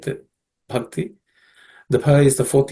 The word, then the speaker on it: Bhakti: The Bha is aspirated consonant. The fourth letter or fourth consonant in the Pa Varga. It has to be aspirated. So it has to be pronounced as Bha. Okay.